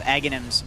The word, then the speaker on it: Aghanim's: That means that they completed the highest level of Aghanim's Labyrinth. That's the pronunciation according to Slacks.